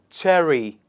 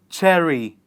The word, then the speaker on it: cherry: Why do we pronounce the R sound here? Because we have learnt the rule that it is not that. Well, it is for the reason that in cherry, the sound that comes after R is E of the letter Y. And that is why E, being one of the vowels, that is why we pronounce the R in the word cherry.